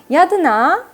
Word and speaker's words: Yadana: Yadana instead is the Myanmar pronunciation of Ratana, which is treasure.